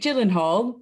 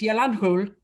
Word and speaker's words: Gyllenhaal: well i got jake gyllenhaal but i can can i get an extra point for pronouncing his name it's yolandhul that's how you properly say his name i'm a big